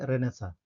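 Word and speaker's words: renaissance: है रेनेसा, ठीक है, स्पेलिंग थोड़ा डिफरेंट होगी, ठीक है, आर ई एन ए आई एस एस यानी double S ए एन सी ई। इसको क्या प्रोनाउंस करेंगे, रेनेसा, ठीक है, रेनेसा का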